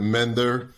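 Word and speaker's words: MNDYRR: can get this right m-n-d-y-r-r yep it's an acronym and uh but pronounce it mender it's much easier and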